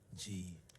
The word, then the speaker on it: Django: Django. D is silent.